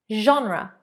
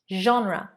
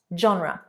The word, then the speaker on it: genre: Definitely is a challenge to pronounce. 42. A French word. Genre. Genre. Not genre.